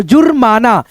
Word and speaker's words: जुर्माना: जैसे यहाँ पे देखो जुर्माना, जुर्माना, दर्शक, दर्शक कैसे पढ़ रहे हैं, दर्शक, है ना।